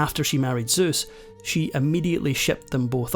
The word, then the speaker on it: Seuss: According to the man himself, Seuss actually rhymes with Seuss.